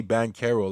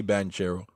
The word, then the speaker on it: Paolo Banchero: bank i don't know i don't know why they say ban kero like it's spelled with a ch i'm gonna just say banchero i don't know if